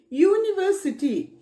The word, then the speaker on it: university: use article a b1 university university is started with verbal letter but it pronounced like you so we have to